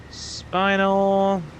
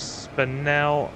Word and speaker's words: spinel: Spinal or spinel, whatever you wish to call it. I'm sure the correct pronunciation of that is spinel.